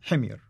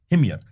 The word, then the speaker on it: Himyar: Well, how do you pronounce it? Himyar. Himyar.